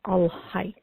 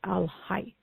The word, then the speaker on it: Al-Hayy: today we're going to use the attribute of Al-Hayy, Al-Hayy, and that is spelled Hayy, Al-Hayy.